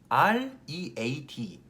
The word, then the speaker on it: read: R-E-A-D 읽다라는 단어를 읽어볼까요? E-A-D는 eat, 한번 R만 붙여볼게요. 을이라는 발음을 하시는데 그거를 혓바닥을 뒤쪽으로 당겨서 read, 을이드라고 생각하시면 돼요.